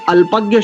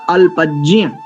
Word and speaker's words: अल्पज्ञ: वैसे इस अल्पज्ञ शब्द का शुद्ध उच्चारण होता है अल्पज्य।